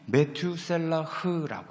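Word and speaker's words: מתושלח: 여기 무드셀라 히브리 발음을 하면은 메투셀라흐라고 합니다. 근데 이 메투셀라하고 하는 사람의 어원을 찾아보니까는요, 창 던지는 사람이래요.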